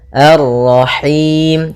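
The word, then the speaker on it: الرَّحِيم: masuk hidung dan juga lepas dari namanya imalah yaitu harus kasrah sempurna arrahim arrahim kemudian pada lafal him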